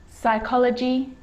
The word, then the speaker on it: psychology: column column that's it the letter p can also be silent in words like receipt psychology the name of central